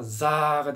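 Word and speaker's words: ざ: 그래서 요거 점이 없으면 사인데 이 점을 찍게 되니까 Z 발음이 되니까 사가 아니라 자가 됩니다.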